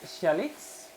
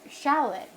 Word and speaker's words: shallot: the world okay um shalot we pronounce it as Shalit is Shalit yeah see